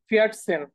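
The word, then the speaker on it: vierzehn: ওকে, 14 যে উচ্চারণ, ফিয়াট সেন, ফিয়াট সেন। 4 কে বলি ফিয়া, আর সেন, হ্যাঁ দুটো একসাথে করে ফিয়াট সেন।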